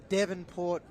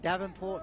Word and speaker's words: Devonport: just want to say sorry to all the devonport people because I it's been made apparent to me that I was saying Davenport in that first half it's your Melbourne yeah